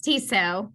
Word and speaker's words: Tissot: I pronounced this correctly to sought it's tiso the T on the end is silent okay just want to